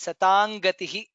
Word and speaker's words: सताङ्गतिः: Satam Gatihi, it becomes Satang Gatihi. That's how we pronounce Satang Gatihi.